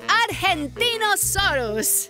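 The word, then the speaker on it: Argentinosaurus: Diva I'm the Argentina Soros whoa that is a big name for a big Dino I have to break it up to say it right R gen teen oh sore us that's me so I'm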